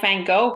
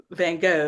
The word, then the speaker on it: Van Gogh: always get it wrong I know people say it all like Vanguard yeah and Van Gogh is pretty much how I always say it of course yeah I